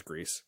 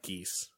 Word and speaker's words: Gris: remember which which way they pronounced it so he pronounced a grease because he said no it's not geese pakka yeah the Muppets